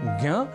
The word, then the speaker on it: ज्ञ: यह संयुक्ताक्षर जी हां उच्चारण की दृष्टि से विशेष संयुक्ताक्षर है ज्ञ जो बना है ज और ञ के योग से अब क्रम है संयुक्ताक्षर